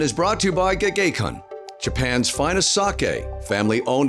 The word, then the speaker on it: Gekkeikan: Yes, it's Gekkeikan.